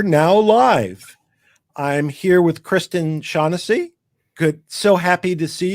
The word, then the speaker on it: Kristen Shaughnessy: and we are now live I'm here with Kristen shaunessy good so happy to see you I hope I pronounced your name correctly by the way you